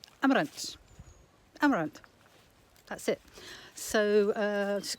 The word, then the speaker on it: Amarante: so you wouldn't say Amarante uh but I but they do sort of pronounce the E on the end of words but it's a sort